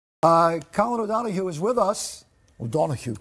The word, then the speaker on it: O'Donoghue: O'Donoghue. Come on, say it like O'Donoghue. Oh, so much better.